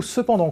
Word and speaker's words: cependant: depuis le xviie siècle le mot cependant comporte deux fois le son en qui s'écrivent e n pour la première et à n pour la seconde l'origine du mot que